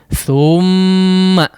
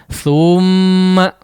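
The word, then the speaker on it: ثُمَّ: Sama thumma ya, thumma tidak seperti itu bacanya, tapi thumma ya, thum langsung masuk kepada huruf mim ya.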